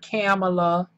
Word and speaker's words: Kamala: again the coronet the the correct pronunciation of kamala's name is kamala not kamala not kamala not kamala it's kamala and trust me i